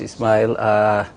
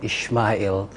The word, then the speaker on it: Ismail: You corrected me this morning. I was saying Ishmael. I think the Muslims, that's how we pronounce it. Oh, it's Sumaila. Well, whatever. So the Arabic is Ismail, and then the house has corrupted it to Sumaila.